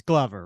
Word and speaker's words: Glover: It's Glover, right? Glover, like a glove.